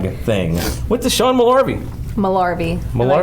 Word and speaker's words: Malarvey: Malarvey. He actually, we asked him how to pronounce it, and he was like, Mel is in Gibson, R is in Pirate, V is in Victory. I like that. Malarvey.